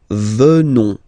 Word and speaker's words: venons: O-N-S, classical ending for nous. Okay? Final S not pronounced. So O-N, on, venons, venons. Nous venons.